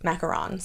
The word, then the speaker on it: macaron: her macarons are amazing how do you pronounce that macarons macarons macaroons are the coconut on macaroons are the coconut ones macron is the former